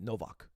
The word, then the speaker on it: Nowak: I should pronounce it in a Polish way. Nowak.